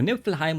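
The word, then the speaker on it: Niflheim: change of scenery when going to Nippleheim with Freya now to kill some undeads. That's how you say it in German.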